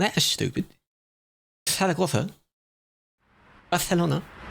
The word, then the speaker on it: Barcelona: Tarragotha. Because they say it like that in the same way you go Barcelona, not Barcelona.